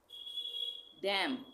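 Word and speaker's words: damn: डैम, इसको हम डैमन नहीं बोलेंगे, डैम।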